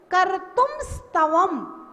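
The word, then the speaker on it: कर्तुं स्तवम्: अब देखिए, का है, फिर रा है, फिर ता है, फिर ऊ है, फिर माँ है, आधा माँ है और आधा सा है, तो हम इनको मिला के बोले कर्तुम स्तवम।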